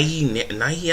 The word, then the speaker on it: Nighy: guy named matthias who's played by bill bill nye nighy i think so he pronounced his name he played uh davey jones